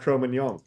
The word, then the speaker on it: Cro-Magnon: pronunciation is in fact Cro-Magnon.